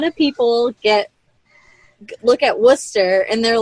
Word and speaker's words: Worcester: my wart so technically it's worse Esther okay right but now